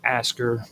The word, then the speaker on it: Askr: and I want to bring up the term Asker Yggdrasil. Now, when I say Asker, it's spelled ASKR and then Yggdrasil.